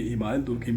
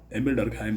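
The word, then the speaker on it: Émile Durkheim: लेकिन एमिल डर्कहाइम कहते हैं कि दुर्खिम, जो एमिल डर्कहाइम थे, कभी कभी इमाइल दुर्खिम कहा जाता है, लेकिन उनका शुद्ध जो उच्चारण नेम है एमिल डर्कहाइम उसको पढ़ते हैं।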